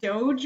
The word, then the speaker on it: doge: I'm going with the doge meme and I actually did look up how to pronounce this and it is Doge um and it's basically